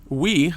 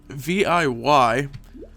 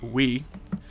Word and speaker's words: Viy: going to be too quick anymore the uh we apparently that's how you pronounced the boss's name VI viy as I was pronouncing VI is apparently pronounced we some of these not uh English mythological figures